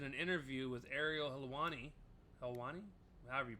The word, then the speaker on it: Helwani: Helwani, however you pronounce it.